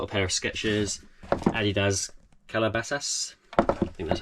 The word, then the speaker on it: Calabasas: from I got a pair of sketches Adidas Calabasas that's how you pronounce it Calabasas and Alfred Sargent shoes without laces these are